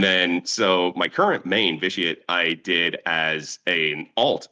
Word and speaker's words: Vicate: The way that you're supposed to pronounce, not supposed to, but the way that I envisioned it pronounced was vitiate. I've heard Vicate.